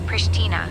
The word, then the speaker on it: Pristina: The local pronunciation for Pristina is Pristina, with a soft sh sound. It's a bit like saying Prish and then adding Tina at the end.